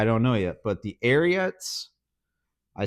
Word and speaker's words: Ariat: know yet but the arot I say arot everyone says it's arot like Secretariat I know I know but I'm used to saying aot so it's a habit how do you sit